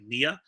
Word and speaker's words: Nia: If you noticed, I did actually end up pronouncing it Nia. Actually, was it Nia? because I was saying I was saying Nina, right? I was saying Nina Jax.